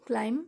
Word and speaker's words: climb: We have discussed in our previous video, climb, C-L-I-M-B, B is silent, and by adding I-N-G, climbing, here we can find out two syllables, climb and I-N-G, climbing, going up.